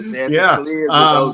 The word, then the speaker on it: Chanticleers: You've had a pretty good handle on the Chanticleers. Am I pronouncing it correctly? That's right. The Chanticleers.